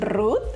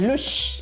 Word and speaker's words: Ruth: en Japón también Ruti porque Ruth no lo pueden pronunciar los japoneses. ¿Es verdad? ¿Cómo se dice Ruth en japonés? Lush. Lush. Me decían Lush. ¿Y cómo te dicen ahora Ruti? Ruti. Ajá. Es como más fácil. Ajá, porque en Japón la T y la H como que casi no tiene pronunciación, porque sería Ruto.